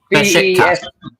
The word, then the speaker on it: Beşiktaş: Beşiktaş. Besiktas, yeah. Well, I can't pronounce them.